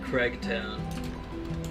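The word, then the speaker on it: Cregtown: It's spelled C-R-E-G, Craigtown. It's the second Gregtown, but instead it's Craig.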